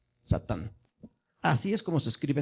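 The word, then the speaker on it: שָׂטָן: Entonces dice Sa, aquí vamos a leer de arriba hacia abajo, Sa, luego Tan, Satán.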